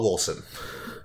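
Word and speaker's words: Wolcen: Right now I'm playing, well, most recently Minecraft, then Stardew Valley, and I was playing Volson with you the other day. Yay! Wolson. So, the developers call it Wolson.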